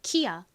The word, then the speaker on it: Kia: 소리가 나기 때문에 기야 이렇게 읽는 것이 아니라 키아 키아 뭐 이런 식으로 읽을 확률이 높고요이라고 써도이가